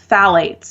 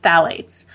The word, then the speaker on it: phthalates: is a chemical called phthalates. And I'll spell it because it's spelled differently than it's pronounced. So it's spelled Phthalates, phthalates.